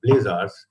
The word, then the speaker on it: blazar: BL and then they to kind of rhyme with quazar was called the blazar an interesting catchy name